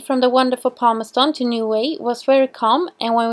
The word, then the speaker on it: Niue: We are at Niue. Niue. Niue. Niue. Very important to say it right.